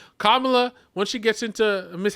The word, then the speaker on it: Kamala: once okay you know Kamala Kamala kamla sorry I we've been saying her name wrong kamla when she gets into